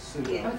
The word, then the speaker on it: pseudo: I think the P is silent. It is, it's pseudo.